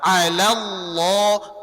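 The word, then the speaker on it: الله: Jadi kalau lafaz Allah sebelumnya fathah dan damah tebal dia. Tapi kalau sebelumnya kasrah tipis dia. Maka kalau tipis ringankan saja tapi kalau tebal alallah alallah kuat dia. Berat dia. Tapi kalau tipis sudah bismillah auzubillah ringan saja tiib.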